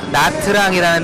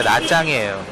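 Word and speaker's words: Nha Trang: 그래서 베트남에서도 많이 가는 나트랑이라는 데 있잖아요. 그 트랑이 TR 스펠링으로 보이는데, 베트남 사람들은 그거를 짜로 발음을 하죠. 그래서 나트랑이 아니라 나짱이에요.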